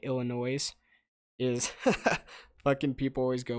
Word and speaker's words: Illinois: But like half the country, it's like when people say Illinois instead of Illinois. Like that's the equivalent. When people in Illinois hear Illinois, they say the same shit, dude.